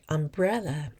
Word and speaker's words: umbrella: In the word umbrella, it is the second syllable that carries the vocal stress.